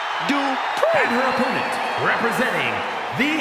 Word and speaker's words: Dupri: Michael, it's pronounced Dupri.